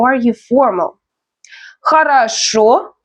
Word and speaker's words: Хорошо: Хорошо, the stress is on the last syllable.